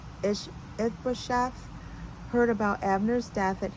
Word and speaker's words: Ishbosheth: When Ishabeth, I know I pronounced that wrong. Ishbosheth heard about Abner's death at Hebron, he lost all courage, and his people were paralyzed with fear.